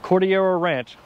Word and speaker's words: Cordillera Ranch: one of my favorite high-end luxury communities of cordial ranch i said it right this time and this